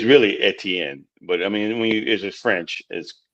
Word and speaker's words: Etienne: But it's really Etienne.